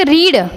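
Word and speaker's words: read: यही की जाती है एक रीड रीड की स्पेलिंग वही रहती है पर बोलते अलग अलग है रीड रेड रीड है ना रीड रेड रीड इस तरीके से बोलते हैं तो आपको पता चल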